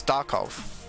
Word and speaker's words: Darkov: Being told it's Darkov is the way to pronounce that.